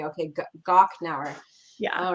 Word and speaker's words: Gochnauer: It's Gochnauer. So the CH is like a K, a hard K. It's the hard K. Okay, Gochnauer.